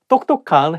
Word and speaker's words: 똑똑한: different between each other so 똑똑한 has sound so make Sure that you read correctly you might need to